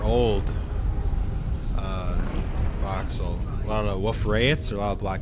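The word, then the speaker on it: Wolf-Rayet: And apparently wolf rayet is pronounced wolf rayet, but I refuse to pronounce it like that because no. Apparently the guy was French.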